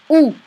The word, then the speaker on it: où: Où se trouve le restaurant? Okay. Où? It's like who, this pronunciation, but it means where.